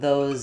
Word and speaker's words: those: And especially if I'm saying put those in or those are, then I'm really going to hear that Z more as a strong Z again.